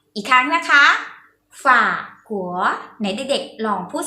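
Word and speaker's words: 法国: ประเศษ เนี่ย ภาษา จีน ออก เสียง วัด ขอ ฝาก หัว อีก ครั้ง นะ คะ ฝาก หัว ใน เด็ก ลอง พูด สิ คะ อ่ะ ถือ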